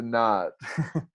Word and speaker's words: Naad: And our podcast is called "We Got the Nod." Again, that's NAAD. Nod is spelled with 2 A's.